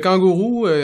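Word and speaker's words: Kanguru: Ben, en fait, la page Facebook Kangour Santé, juste kangourou qui s'écrit K A N G U R U. Euh, ça vient de gourou en fait, du mot gourou.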